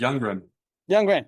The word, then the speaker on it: Youngren: Cuz I have a horrible pronunciation. No, that's perfect. You grin.